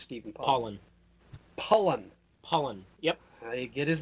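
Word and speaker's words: Pollan: Michael Pollock, not Stephen Pollock. Pollen. Yep. I get his name wrong every time.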